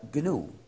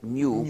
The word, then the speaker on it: GNU: Se escribe GNU y en inglés se pronuncia GNU. Pero en castellano es aceptable pronunciarlo GNU como si comenzara por ñ.